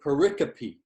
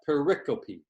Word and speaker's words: pericope: often use the word pericope that's how you pronounce that pericope it sometimes when i type this microsoft word wants to change it to periscope but it's called pericope